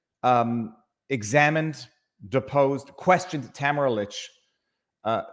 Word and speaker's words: Lich: examined deposed questioned Tamara Lich uh camera leech by the way that's that's Tamara Leach is now the official pronunciation because it's her pronunciation she